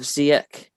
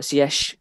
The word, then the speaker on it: Ziyech: And then you got a front three of Ziyech, or Ziyech, as they say it's nice to be pronounced now.